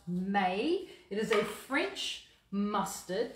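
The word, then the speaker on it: Maille: which is um it's spelt m-a-i-l-e but it's pronounced may it is a french mustard dijon mustard and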